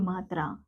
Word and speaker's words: मु: ऐसे अगला है म जमा उ मु।